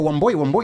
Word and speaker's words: Wambui: So wamboy is so straightforward. So even wo camo, they mispronounced that. How do they say it? It's the cadence that's off. It's like wam boy.